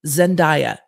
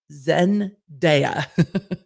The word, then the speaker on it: Zendaya: goes by one name and said zendaya not zendaya zen deya so then i went and i scoured the internet it didn't take long zendaya pronounces her name zendaya all of the attorneys in this case pronounced her name zendaya it's zendaya so just so we're